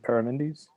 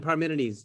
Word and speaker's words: Parmenides: so what are we doing today heraclitus and paramindys that's it heraclitus and parmenides yes that's exciting for my pronunciation again oh it's all good it's all